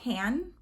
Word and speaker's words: Hanne: is Danish and um when I looked up Danish pronunciation of h-a-n-n-e it said Han so if it's wrong